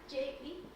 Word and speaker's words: Jie: I'm my name is j and the pronunciation it's like letter j j j it's my